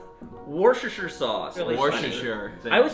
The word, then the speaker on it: Worcestershire: Next thing you need, 2 dashes of, how do you pronounce it? Worcestershire? Worcestershire. Worcestershire sauce.